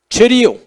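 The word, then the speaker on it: χρίω: C-H-R-I-O, cherio, como decir cherio, C-H-R-I-O.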